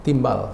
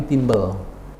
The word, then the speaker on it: timbel: Wah itu salah, itu bukan timbal, tapi timbel.